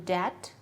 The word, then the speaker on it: debt: For example, the B may be silent in debt, but it is heard in the debit.